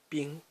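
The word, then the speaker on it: 兵: This is pronounced bing.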